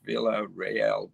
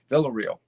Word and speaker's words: Villarreal: um ronaldo villarreal real villarreal probably in in spanish is villa rael but villarreal as i pronounces it ray um he lived in